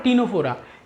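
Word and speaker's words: Ctenophora: टीनोफोरा। मैं आपको बता चुका हूँ सी साइलेंट है। सीलेंट्रेटा और टीनोफोरा ये दो फाइलम है।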